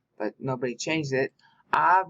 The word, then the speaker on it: Av: Av means father, haha. A-B is the spelling, but you pronounce the B softly.